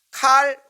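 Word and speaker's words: Karl: 이에 교황은 칼 5세, 독일어 발음은 카를 5세라고 하죠. 영어 발음으로는 칼이라고 하는데요.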